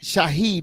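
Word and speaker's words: Shaheed: wide receivers man of course alive and ased Shahed did I pronounce his last name correct yes you didah yeah now Shahid had a big game against the Carolina man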